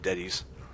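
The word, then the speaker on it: Deteis: Yep, D-E-T-E-I-S. Not sure how to pronounce it. I'm just going to assume Detis.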